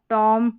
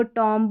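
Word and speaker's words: tomb: Number 18 पे जाएंगे तो शब्द के अंत में MB का कॉम्बिनेशन रहता है तो B इसमें साइलेंट रहेगा। जैसे ये देखिए MB, MB, MB, यहाँ पर भी MB। लास्ट में इस B को आपको साइलेंट रखना है, इस B को नहीं पढ़ना है। बॉम, कॉम, टॉम, डम, लैम्ब, इस तरीके से पढ़ना है। बॉम्ब, कॉम्ब, टॉम्ब, dumb, lamb, इस तरीके से नहीं पढ़ना।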